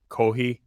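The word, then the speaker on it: コーヒー: So you just say coffee without the F and it's coffee? Kohi. Kohi. All right. So Pronouncing it like a New Yorker, but yes. So here's another good question. They don't have fees, they have to do HI as a substitute.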